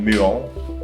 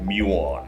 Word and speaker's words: muon: Mais ça s'appelle, en français ça se nomme muon, mais tu peux le dire cool à l'anglaise avec muon.